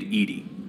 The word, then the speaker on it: EDI: airlock is a jar why are you named Edie Ed is the phonetic pronunciation of e d i that is an